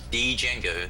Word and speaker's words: Django: me a YouTube link Django the D is silent all right thank you